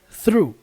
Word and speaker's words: through: Ó, a pronúncia disso aqui é through, through. Sabe o que você fala lá? Drive through. É isso aqui, through. Essa pronúncia aqui, ó, through. TH com R.